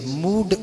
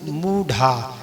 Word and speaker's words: मूढ़ा: थोड़ा विसर्ग को अच्छी से मूड मूढ़ा, अच्छे से मूढ़ा, ये हा की तरह इसका उच्चारण होता, मूढ़ा।